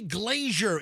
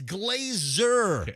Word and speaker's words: Glazer: you know, he's like, "Don't say Glazier. It's Glazer."